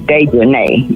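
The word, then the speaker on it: Dejanae: Her name is Dejanay. Yeah, that's Dejanay. It's Dejanay because it's got A-E on the end.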